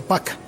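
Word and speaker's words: 박: h o algo parecido se escribe Park pero leí que se pronuncia Paca pac digámosle la presidenta ella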